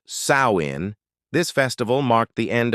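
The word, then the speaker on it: Samhain: Its roots go way, way back to an ancient Celtic festival called Sam Hine, pronounced sawin.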